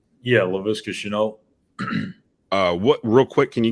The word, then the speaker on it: Shenault: How do you pronounce his name? Chenault? Yeah, Laviska Shenault.